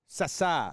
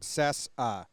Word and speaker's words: Cessa: Cessa Cessa. is the pronunciation. That's how you pronounce it? Cessa.